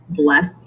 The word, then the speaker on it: blessed: Shakespeare also likes to use that little mark over the blessed ed, and so instead of saying blessed as one syllable, he says blessed to keep his 10 syllable count.